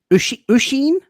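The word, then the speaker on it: Oisín: watches Here we go it's an Irish name pronounced ashen ashen Usheen sounds like here.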